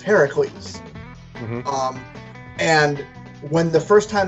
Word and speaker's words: Heracles: because his name is technically supposed to be pronounced Heracles. And when the first time they say it, Heracles, Zeus says yes because that's the way it's actually pronounced.